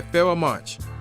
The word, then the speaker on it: Pharoahe Monch: So I am reviewing Internal Affairs, which is done by Pharoahe Monch. That's how you pronounce his name.